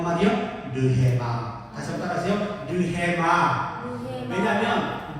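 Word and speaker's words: ῥῆμα: 르헤마. 다시 한번 따라하세요. 르헤마. 왜냐하면 늘 애가 이 거친 순표가 있기 때문에 이건 해 발음이 나요.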